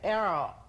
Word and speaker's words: arrow: en la forma como se dice o se pronuncia la R en inglés. Pero dice arrow, current, market.